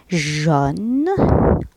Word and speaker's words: jaune: jaune A U تنطق O. jaune.